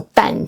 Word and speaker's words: 膻中: Este es un gran punto de acupuntura llamado dānzhōng （膻中, dān zhōng） o tánzhōng （膻中, tán zhōng）. Ambas pronunciaciones son correctas. Normalmente la gente lo pronuncia dānzhōng （膻中, dān zhōng）, y algunas personas lo pronuncian tánzhōng （膻中, tán zhōng）.